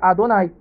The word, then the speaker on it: Adonai: rebater né o tetragrama enquanto meu nome é pronunciado com as letras Alef né que é o a o dalets que é né o d o nunca é o n e outros né que aqui Adonai então você vê aqui